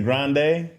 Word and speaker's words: Grande: I saw Ariana Grande say that her name was Grandee. Mhm. And that's not right. She was like, "Yeah, well the Grandes blah blah blah." She was talking about her family with her grand she's like she's Italian. It's not Yeah. It's not grande. It's actually grande.